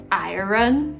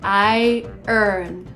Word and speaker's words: iron: Did you just say iron? No. The right way to pronounce is attention. I-earn.